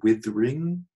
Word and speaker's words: withering: Again, down here, withering is now appearing as withering, a two-syllable word.